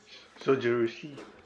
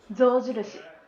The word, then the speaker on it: Zojirushi: Sojushi. Zojirushi.